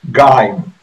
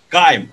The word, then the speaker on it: Geim: So how to pronounce that? Geim. Geim. Oh, okay, thank you. So it would be confusing to say Heim or Jim or Geim. Actually, it's Geim.